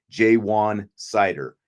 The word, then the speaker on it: Ja'Juan Seider: his name differently but according to the pronunciation guides that I have seen including one that was out by Notre Dame jwan cider is how it's said um he'll be introduced